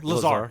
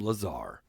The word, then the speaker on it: Lazar: Lazar. It's Lazar. They pronounce it Lazar.